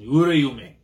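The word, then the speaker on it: Uraume: So there's the name pronunciation. Urayume.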